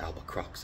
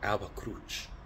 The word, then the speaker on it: Alba Crux: cross, Ave Cruch, Alba, I don't pronounce it Alba Crux, I say, Alba Cruch, Alba, Hail, White Cross,